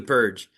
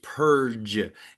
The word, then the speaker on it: Purge: "It's Purge. It's a soft G." Me, "The Purg?" I feel like I'm saying it Guy who's murdering me, "No, it's Purge. You're saying it like iceberg."